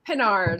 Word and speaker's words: Pinard: Pinard, like Captain Picard from the Enterprise, and that'll come in useful later.